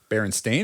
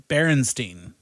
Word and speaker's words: Berenstain: It's the way it's spelled is Berenstain, Stain. But we all remember it as Berenstein because it's one of the examples of the Mandela effect that everybody has kind